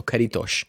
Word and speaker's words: Caretos: So Caritos is the name of the game. Caritos.